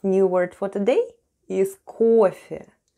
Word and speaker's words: кофе: And the last new word for today is кофе. Кофе. Кофе. Let's spell the word кофе. The first sound is K, then goes O, and it's stressed and is pronounced as O.